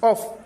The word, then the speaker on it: of: Even O F of which is off it is it gives F sound. It is only O F. The preposition of that gives V sound.